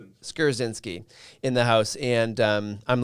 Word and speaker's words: Skrzynski: Let's say it correctly. Skarzinski in the house, and I'm learning.